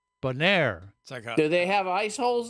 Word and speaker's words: Bonaire: well now I'm confused it's not pronounced boner no I said boner Bonaire do they have ice